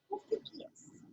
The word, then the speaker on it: amphibious: Amphibious. PH I usually pronounce as an F.